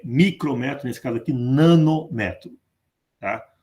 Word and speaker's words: nanômetro: Que eu vou passar para nanômetro. E aqui uma correção. Não é nanômetro, é nanômetro. Sistema Internacional de Unidade, os prefixos têm a primeira sílaba tônica. Nanômetro, micrômetro.